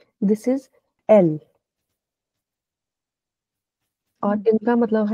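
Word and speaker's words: elle: आता है ई एल एल E this is एल और इनका मतलब है शी ठीक है फिर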